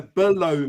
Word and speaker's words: below: And I was thinking, You've got to really get that syllable in there. Below me, not blow me.